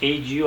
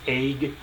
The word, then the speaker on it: ague: you a-g-u-e i looked it up it is pronounced age you i used to think it was egg and that's just uh this can be both